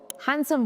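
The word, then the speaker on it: handsome: इसमें भी डी ही साइलेंट है तो इसको हैंडसम बोला जाता है।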